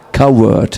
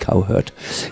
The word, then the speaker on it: coward: Coward. Yes, not cowherd. Coward.